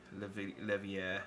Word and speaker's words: Leveilleur: The L's turn into a Y. Leveilleur.